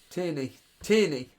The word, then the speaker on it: Tierney: Killian Cree, thoughts on Kieran Tierney, on Tierney, how do you pronounce his name? Tierney, blimey.